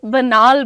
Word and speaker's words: banal: आयुषी पांडे, बनाल की spelling is BANAL, बनाल बोलते हैं उसको, घिसी पिटी बातें, तो उस पर थोड़ा ध्यान दीजिएगा।